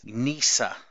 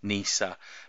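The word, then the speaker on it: Kneesaa: I'm butchering that pronunciation I'm assuming it's a silent k so Wicket and Nisa and I think this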